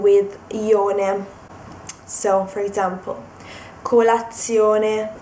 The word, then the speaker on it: colazione: So, colazione, stazione. I'm trying not to stress the Z. Colazione, stazione. You pronounce it with just one Z because that's the way it is in Italian.